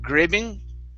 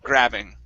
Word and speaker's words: grabbing: right here gra grabbing instead of gripping it's an ah grabbing grabbing okay very nice